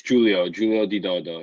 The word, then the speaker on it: Giulio di Dodo: Let me ask you, how do you pronounce your name, just so I'm not butchering it? It's Giulio di Dodo.